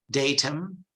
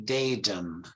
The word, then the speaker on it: datum: Italian okay uh so British English is datum and American English they say datum datum they try you know again a t between two vowels becomes data datum right Tara yes correct